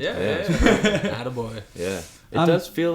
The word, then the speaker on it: Atta Boy: Did I pronounce it correctly? With my French accent? Yeah. Atta Boy.